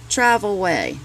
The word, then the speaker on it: Travelwey: It's Travelwey. Way is spelled W-E-Y.